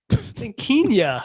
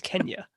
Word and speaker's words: Kenya: Kenya. You're saying like it's like quinoa or something. Kenya Barris. Kenya. If his name is pronounced like the country, it's Kenya.